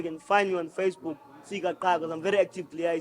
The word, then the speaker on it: Ntsika Qha: Ntsika Qha, that's on Facebook. You type Ntsika Qha, NTSIKAQHA. You're not supposed to say the Qha, by the way. The Qha is silent.